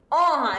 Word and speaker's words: honra: explicar esse assunto também honra eu tenho cinco letras de três fonemas belezinha Como já foi dito o h não é pronunciado e o n nasal porque ele é dígrafo vamos praticar É isso